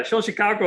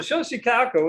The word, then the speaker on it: Xochicalco: language what we're used to using chicago yeah show chicago is the way most people pronounce it nowadays the x has a sound all right so show chicago is another venus zenith viewing chamber location now